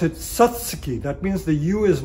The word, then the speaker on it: Satsuki: spelled si s such su ki the Japanese pronounce it Satsuki that means the you is not pronounced so